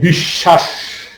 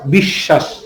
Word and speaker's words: বিশ্বাস: যেমন তার উচ্চারণ ডাবল হয়, যেমন দেখো, এই যে বিশ্বাস, বফলাযুক্ত বর্ণ শব্দের মাঝখানে আছে, এই কারণে তার উচ্চারণটা, তার উচ্চারণ নাই, কিন্তু যার সাথে যুক্ত আছে তার উচ্চারণ ডাবল আছে। বিশ্বাস, বিশ্ব, বলো ব্যাপারটা মাথায় গেছে না গেছে না?